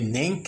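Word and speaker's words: Neinkh: Cette application est dénommée Nenk et s'écrit N-E-I-N-K-H.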